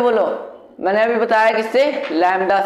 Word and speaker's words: lambda: मैंने अभी बताया किससे, लैम्डा से। इसका नेम क्या होता है, लैम्डा। लैम्डा तुमने स्पेलिंग देख लो लैम्डा की, अगर तुमने कभी